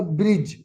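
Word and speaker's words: bridge: Ram asked ह army army to build build built build का मतलब होता है बनाना अ ब्रिज डी यहां पे साइलेंट है over the सी Ram asked ask का मतलब वैसे पूछना आता है कहना भी आता है।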